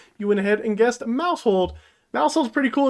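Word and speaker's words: Maushold: into last video's question this Pokemon name rhymes with household who is this Pokemon if you like our commenter link tokens you went ahead and guessed Mouse hold Mouse pretty cool it's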